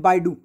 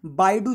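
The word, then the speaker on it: Baidu: As well as WeChat work and बाइडू, ये बाइडू है, बादू नहीं है, ठीक है।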